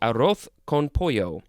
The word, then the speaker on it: arroz con pollo: So, in that accent, it would be arroz con pollo. It is spelled A-R-R-O-Z, next word C-O-N, next word P-O-L-L-O.